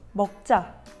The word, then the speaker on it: 먹자: It's quite a short phrase, which is meokja.